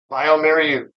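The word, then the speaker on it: bioMérieux: Yeah, I learned how to pronounce that 2 years ago. BioMerieux.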